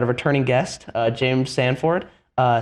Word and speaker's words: Sanford: uh James Sanford uh Stanford I don't know why I always say Ford it's like I read it in my head and then Stanford yeah that's how I say it it is spelled Sanford yeah I know but